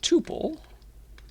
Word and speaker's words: tuple: is pronounced as either tuple, like quintuple, quadruple, kind of rhymes with that, tuple, or other people say tuple, like quintuple, right?